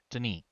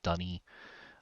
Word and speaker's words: D'ni: sticking to a more Dunny pronunciation as opposed to Mm-hmm. Denis. Mm-hmm. So we've got Dunny, Dinny, and the ambiguity all comes around that little apostrophe.